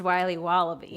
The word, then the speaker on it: Wiley Wallaby: It's pronounced Wiley Wallaby. Well, it's very good. It's called Wiley Wallaby, and it's delicious.